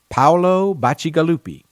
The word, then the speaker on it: Paolo Bacigalupi: Colorado and I will make every effort to pronounce his name correctly Paolo Bacigalupi his debut novel the wind up girl won